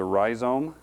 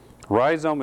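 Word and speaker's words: rhizome: terrible the part that we use is the ryome do you know the difference between a root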